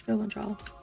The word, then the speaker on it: Valandral: I was always saying it wrong. It's Valandral. Valandral?